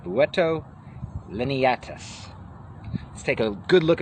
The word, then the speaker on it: Buteo lineatus: Today we're reading about the red-shouldered hawk, the Buteo Lineatus. That's the Latin pronunciation, Buteo Lineatus.